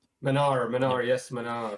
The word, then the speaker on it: Manar: are today with man Manar is that it's pronounced Manar Manar yes man how you doing today what's